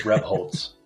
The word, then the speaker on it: Rebholz: Yeah, I didn't actually check before we started, but your surname, did I get anywhere close to the pronunciation it's supposed to be? Yeah, it's good. It's Rebholz.